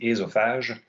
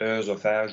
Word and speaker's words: œsophage: Un autre mot qui est très embêtant, là, j'en profite, c'est ésophage. Ésophage, la plupart des gens disent soit œsophage ou œsophage, mais c'est ésophage qui est la prononciation correcte. Donc, le O est muet.